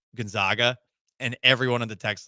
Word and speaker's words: Gonzaga: which you're saying yeah I didn't always pronounce Gonzaga the right way Gonzaga it does seem like it would be Guna it does I'm trying